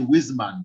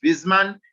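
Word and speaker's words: Wissmann: what a w yes but germans do not have a w in the pronunciation that w is pronounced as a v that is why i'm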